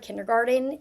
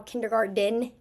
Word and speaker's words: kindergarten: themselves kindergarten kindergarten now when I say the word kindergarten do you notice how kindergarden Den you usually hear like the D at the end if I wrote it